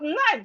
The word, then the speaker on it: knife: But knife start with K. Knife start with K. To write the word knife, you start with K. The K is silent.